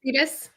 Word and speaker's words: Freitas: Nick Freitas.